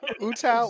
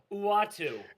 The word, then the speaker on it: Uatu: Absolutely, Who- Utao. Zo- What is it? what was his name? Thing. Val Kilmer, Vowel, Uatu.